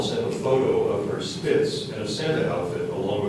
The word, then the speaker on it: spitz: The word is spitz.